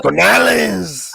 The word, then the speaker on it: Canales: You gotta say it like this, Canales.